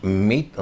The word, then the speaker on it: Meade: ONU al Señor meade yo le digo meade porque así se escribe su apellido creo que él no le gusta que le digan meade sino mito no sé cómo el